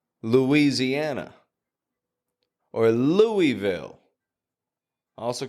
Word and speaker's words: Louisiana: The point is, there's no W in the spelling, my friend, but we are pronouncing a W every time.